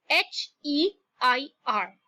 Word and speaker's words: heir: Okay, now look at this word T-O-M-B. Now the B there is silent when we pronounce it.